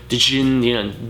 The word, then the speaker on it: Djinn: Djinn, Djinn as it's pronounced, but no chaser.